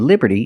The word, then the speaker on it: Liberty: of Liberty and we see that t and Liberty is between vowels so it's pronounced like a fast D Liberty Liberty not Liberty